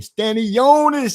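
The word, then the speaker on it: Stanionis: Um, I I like Stanny Yonis, man. Stanny Jonas, you got to say it like that, MZ. You got to say Stanis.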